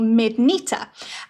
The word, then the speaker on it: Mydnyter: And sometimes, depending on the region that hedgehogs are from in Chutaland, this is sometimes pronounced as Neater. So that would become Skykneiter or Midneater.